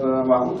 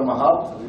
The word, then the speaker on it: Mahout: When it comes to machine learning, think about Mahout or Mahout, depends how you pronounce it.